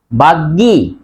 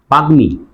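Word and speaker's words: বাগ্মী: বাগ্গি না বাগ্মি? গর সাথে উচ্চারণ মর উচ্চারণ হবে।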